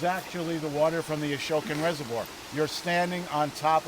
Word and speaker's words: Ashokan: There is no need for a water pump to get any of this water from Woodstock, where the Ashokan Reservoir is. A-S-H-O-K-A-N. Ashokan Reservoir. How do you spell it?